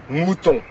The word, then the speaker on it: mouton: Voilà, c'est bien ça, c'est parce que dans mouton, le son résonne dans les cavités nasales, alors que pas dans hibou.